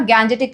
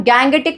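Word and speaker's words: Gangetic: पूरा का पूरा अपना गैंजेटिक प्लेन, जिसको कि हम गैंगेटिक प्लेन ही बोलते हैं इंग्लिश में. बेटा गैंजेटिक एंड गैंगेटिक both the pronunciation correct according to English.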